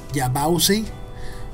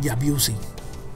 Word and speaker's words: Yabause: or name it correctly, is Yabause, or I for some stupid reason I always call it Yabuse.